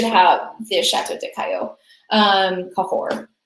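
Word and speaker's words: Cahors: Um it most notably cahor. I think everybody who shopped with us got this wine. So everybody should have the chat deo. Um cahore that is how you say that word.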